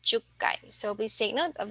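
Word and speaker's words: 十回: Our special pronunciation here is in the 1, 6, 8, and then 10. So ikkai, rokkai, hakkai, and jukkai.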